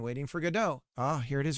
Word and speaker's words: Godot: Waiting for Godot.